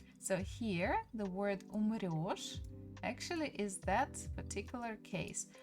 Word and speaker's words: умрёшь: But by pronunciation, we still need to use the sound yo. So we just need to remember, or we just need to know that word. So here, the word умрёшь actually is that particular